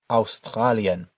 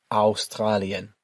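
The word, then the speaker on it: Australien: Note that the au at the start of this word is pronounced in a more German way than we would say it in English. Whereas we say Australia, in Germany, we pronounce it Australian.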